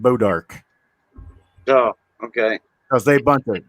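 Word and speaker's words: bois d'arc: yeah Arc yeah yeah b-o-i-s-d apostrophe Arc right ball dark right but they pronounce it bodark oh okay because they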